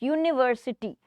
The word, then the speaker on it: university: Okay, first one is university student, university. I think it is giving the sound of y, u sound. Okay, not u, y sound, university when we read.